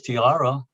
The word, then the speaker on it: Tierra: And I said, well, Tierra, it's hard for an Anglo to produce Tierra because you got to roll your R's and they can't do it. But if you pronounce it in English, Tiara, then it becomes a crown jewel, right?